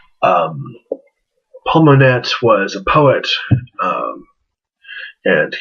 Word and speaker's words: Monette: i know his name his last name looks like monet but it's actually pronounced paul monette um paul monette was a poet um